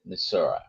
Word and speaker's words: Missouri: Uh, for Pix Fly Farm from Missouri or Missouri, depending how you pronounce it, they're both the many of the locals call it Misura.